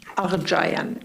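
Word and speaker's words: Aghjayan: My name is Arjian and I'm from I'm sorry, can you pronounce that again? Aran spelled A G H J A Y A N.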